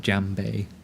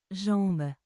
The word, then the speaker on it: jambe: Jambe. Jambe. Jambe. Jambe. She ain't pronouncing the B.